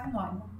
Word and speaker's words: Neumann: Escreve Neumann, mas a pronúncia é Neumann.